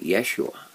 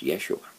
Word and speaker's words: Yeshua: Or if you want to pronounce it in Hebrew, it would be Yeshua. And that is a common name that is used in Israel by Jews concerning Jesus, Yeshua.